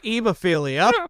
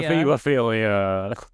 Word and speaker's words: hebophilia: Look, it's ebophilia. It's technically a hebophilia.